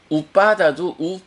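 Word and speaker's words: uppāda: 빠띠자 그 다음에 3 오빠다도 우빠다가 아니고 피 자음이 두 개이기 때문에 오빠다 빠는 장음이죠 그래서 바다인데 앞에 3하고 붙어서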